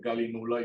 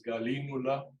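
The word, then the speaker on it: Gallinula: Uno pronunciaría en español galinula y es galínula.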